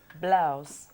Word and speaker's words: Blow: Bien, una sola vez en el programa y prometo no volver a pronunciarlo nunca más. Blaus.